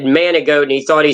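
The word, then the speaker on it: Manigault: nicknamed the goat because his last name manic goat but g is how it's spelled but it's frenched in man managot and the joke is guy asked him his name he said he said Manny goat and he thought he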